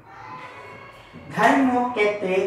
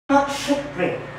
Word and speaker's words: ধর্মক্ষেত্রে: আমাকে এরকম উচ্চারণ করলে হবে না, আমাকে সংস্কৃত ভাষায় এটা উচ্চারণ করতে হবে। সংস্কৃত ভাষায় এটা উচ্চারণ করতে হবে। সংস্কৃত ভাষায় যেহেতু উচ্চারণ করতে হবে তাহলে আমাকে বলতে হবে ধর্মক্ষেত্রে, ধর্মক্ষেত্রে, ধর্মক্ষেত্রে মানে আমার ক এবং মধ্যে দুটোটা উচ্চারণ হচ্ছে। ধর্মক্ষেত্রে कुरुक्षेत्रे समवेता सम मैं